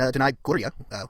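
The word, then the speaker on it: Danai Gurira: And Denai Gloria, which is how they pronounce her name on The Talking Dead, so I think that's what we're going to be going with.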